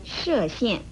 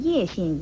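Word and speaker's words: 叶县: 这就像河南省的射县，很多人都把它错读成叶县一样。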